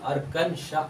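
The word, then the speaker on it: Arkansas: नाम अर्कन सस है ना तो ए को प्रोनाउंस नहीं करना पड़ेगा इसको क्या पेंगे अर्कन श पढ़ेंगे अर्कन श इस को नहीं पढ़ेंगे ये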